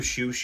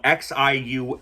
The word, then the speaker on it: Xiu: Uh if you don't know who Shoo is, if you're watching this, it's spelled X IU Xiu.